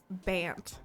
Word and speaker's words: Bant: it in a sentence it rhymes with ant oh bant it is banned white blue black oh